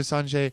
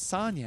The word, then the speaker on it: Sanja: So Sanjay uh oh so it was uh it was uh so Sonia I mispronounced her name. It's Sonia and it was Sonia's baby sister.